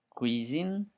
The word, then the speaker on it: cuisine: Then we have of course a cuisine cuisine for the correct pronunciation.